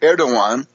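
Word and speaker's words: Erdoğan: are now so uh the hysteria of the erdogan written erdogan but pronounced erdogan and D told cleck that click is now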